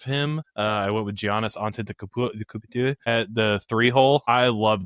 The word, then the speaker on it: Antetokounmpo: I went with Giannis Antetokounmpo at the 3-hole.